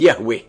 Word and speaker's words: Yahweh: himself as I am which in Hebrew is pronounced Yahweh.